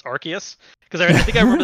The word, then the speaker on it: Arceus: wait is that right i think they've been saying arceus in like the recent trailers because that threw me off in japanese it's r chaos but i'm just not